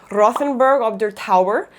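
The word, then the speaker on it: Rothenburg ob der Tauber: say these wrong but i think they're pronounced nordlingen rothenberg of their tower and dinkles bull again sorry if that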